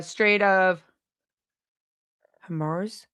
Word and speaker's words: Strait of Hormuz: Is it the Strait of Hormuz?